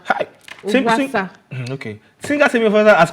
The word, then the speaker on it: Ovwasa: Singer Temmie, how do you pronounce Temmie's name? Ovwasa. Ovwasa. Hi. Ovwasa.